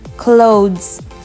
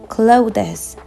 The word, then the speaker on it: clothes: others the next word I heard the most people say clothes clothes but clothes clothes the things that you